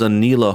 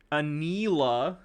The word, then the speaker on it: Enola: This is Enola Holmes. This is the new Enola. He's not even pronouncing it right. Like, How's he pronouncing it? Anila.